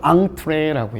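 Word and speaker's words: entrée: 표시를 안 하기도 합니다 읽을 때는 앙드레라고 읽어 앙뜨레가 뭘까 메인 dc를 의미에요 우리 코스윙을 해서 주요리 있지 요걸 앙트레라고 얘기합니다 앙트레 알아두세요 이게 왜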